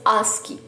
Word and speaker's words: ASCII: Today we discuss ASCII.